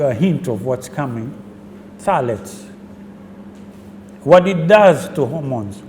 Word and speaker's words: phthalates: It's known as phthalates. It's P-T-H-A-L-A-T-E-S. Phthalates, pronounced phthalates. It's a chemical put into plasticware, cups, bottles for baby milk and all this.